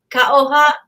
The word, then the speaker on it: Ka'oha: And how do you say hello in Marquesas? Ka'oha, ka'oha nui. Ka'oha nui.